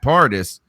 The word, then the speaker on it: Pardis: I think I like that Pardis. He said it quick and smooth. I'm sitting here like I'm in paradise.